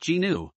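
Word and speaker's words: gnu: kanakit's tyranus it is also referred to as a new pronounced genu the class of animals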